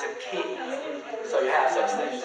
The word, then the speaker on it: ki: But the ki and the qi, same thing, has different pronunciations in different countries.